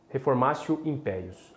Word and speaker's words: reformatio in pejus: reforma raça impérios é impérios né que a pronúncia correta reformasse o impérios a informação império é a proibição de reforma